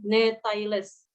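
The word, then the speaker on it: Gnetales: Kemudian ada huruf G dan N, contohnya genetales, maka bacaannya menjadi netailes.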